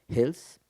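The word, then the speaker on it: Heels: Actualmente cursa la maestría en artes escénicas en la V, donde investiga la danza Hels, Hells, está bien pronunciado, Hells en Jalapa.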